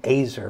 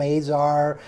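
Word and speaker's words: Azar: I'm I'm told that Azer actually pronounces his name a sir Ryan rhyming with laser it's kind of a Midwestern pronunciation but most people call him a czar or a czar or whatever he is but whatever you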